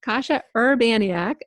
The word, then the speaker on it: Kasia Urbaniak: We made notes of pronunciation. Kasia Urbaniak.